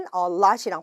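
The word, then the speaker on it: allot: a lot이에요. 네, 발음이 a lot입니다. 마치 우리가 되게 뭔가가 많다라고 얘기할 때 쓰는 a lot이랑 발음이 똑같아요.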